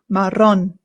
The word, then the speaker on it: marrón: If you have a hard time rolling your R's, don't stress so much about it. It's totally fine. People will still understand you. But if you can roll your R's, it's always going to be best to do so.